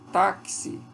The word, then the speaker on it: táxi: Então, na palavra táxi, por exemplo, eu tenho apenas a letra X, mas eu tenho esta pronúncia, táxi.